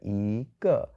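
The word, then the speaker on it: 一: So, it becomes to the second and the fourth tone together yīgè. But, if you have the word yī alone, it's first tone.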